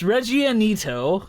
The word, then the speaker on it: Reggianito: You can't even pronounce it! It's Reggianito, which is made from unpastured and unpastured cow's milk, and it is from Argentina.